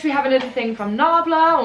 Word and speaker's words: Nabla: Next we have another thing from Nabla, or Nabla I think is how you pronounce it.